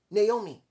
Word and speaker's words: Naomi: is that that's the way her name is pronounced naomi that's the way she says it show respect